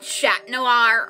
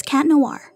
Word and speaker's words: Chat Noir: call him Chat Noir I hate Americans saying shot noir it sounds weird it's cat noir 3 just mad its cat idiot not shat on it it's cat noir its cat not Chad get it right people